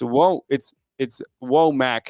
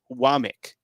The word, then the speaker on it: Wommack: Yeah, and then same with like Womack, who they announced today, is it's Womack, how it's spelled Wommack, but it clearly says it's Womack.